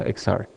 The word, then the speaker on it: Exar: que se llama exar que se escribe exar y tiene xr que en inglés se pronuncia exar todos los fundadores de